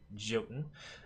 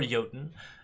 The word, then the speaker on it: Jotun: Yeti into a 6/6 Jotun, or Jotun. The campaign pronounces it, by the way, both ways. It is pronounced both Jotun and Jotun in the campaign, so you have no confirmation of which one is correct.